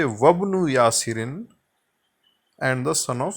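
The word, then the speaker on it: وابن: So it will be dropped or elided, and instead of reading it as wa ibnu, it shall be read as wabnu.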